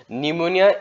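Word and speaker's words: pneumonia: তারপর যে নিমোনিয়া আছে, নিমোনিয়া এই পি টু সাইলেন্ট হয়ে থাকে, হ্যাঁ পি পি পি দি আরম্ভ হয়, গতি এই সাইলেন্ট হয়ে থাকে নিমোনিয়া।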